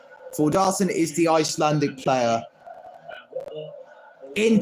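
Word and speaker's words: Þórðarson: loan from leads United forar that's how his name is pronounced forar is the Icelandic player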